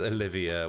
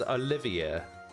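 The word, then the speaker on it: Olivier: I still anounce Olivia this name is not Oliver though it's Olivia there an eye in there Olivia you think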